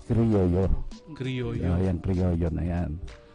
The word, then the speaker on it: Criollo: Or the correct pronunciation is Criollo.